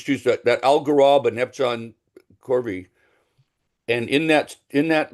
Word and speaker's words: Corvi: And Jerry the the star hop I was talking about is Epsilon How you say it Corvi? Yeah, Corvi.